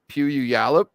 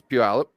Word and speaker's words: Puyallup: Like we got Puyallup, but it's Puyallup.